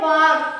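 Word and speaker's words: walk: अब हमको यहां इसको डब्ल्यू ए एल के इसको बोलते हैं वाक।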